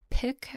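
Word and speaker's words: piqué: these are a cotton pick I believe is how it's pronounced p i q u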